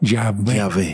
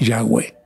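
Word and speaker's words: Yahweh: letritas que nos ayuden Vamos a ponerle a y e Entonces nos va a quedar yahwe yahwe otros más tarde dijeron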